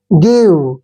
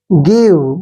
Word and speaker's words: give: जैसे नेक्स्ट, अब इसको हमने गाइव नहीं पढ़ना है, ठीक है ना, क्योंकि एक्सेप्शन होते हैं कई बार, जैसे फीव नहीं, इसको फीव नहीं पढ़ सकते, तो इसको फिर आप गाइव नहीं पढ़ सकते। देखिए इंग्लिश है, थोड़ा सा ध्यान तो रखना पड़ेगा। गिव क्या पढ़ेंगे इसको, गिव, गिव मीन्स देना।